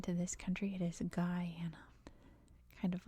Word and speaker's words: Guyana: its own pronunciation so it is Guyana if you're speaking English at least just for reference